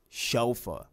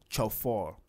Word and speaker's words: chauffeur: have today is chauffeur chauffeur chauffeur it is not so far or sofa its chauffeur chauffeur that's